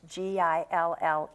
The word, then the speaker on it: Gillett: And I want everybody to try to go to the website for Keira Gillett, and it's Keira, and it's Gillette.